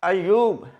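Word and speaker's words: ایوب: अयूब अयूब अल सलाम इसमें यह है कि ये ऊपर शब्द और पेश है बाज लोग स्पेलिंग इंग्लिश में लिखते हैं ए वाई यू बी अयूब नो यह मुसद है ये अयूब यानी स्पेलिंग इस तरह बनेंगे A double Y double O बी अयूब और अगला जो लज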